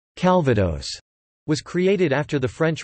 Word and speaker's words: Calvados: Calvados (French pronunciation: cal.va.dos) is an apple or pear brandy from the Normandy region in France.